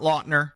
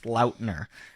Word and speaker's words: Lautner: or anything stop somebody and said it's not Lautner it's Lautner just go with whatever you're like it's fine I don't care his name is Taylor Lautner Lautner we've been saying it wrong and the